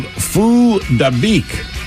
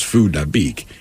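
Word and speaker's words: Phuc Dat Bich: The problem is not that his name is Phu Dabik. It's that its spelling, when pronounced phonetically, essentially, when you look at it, is F that bitch.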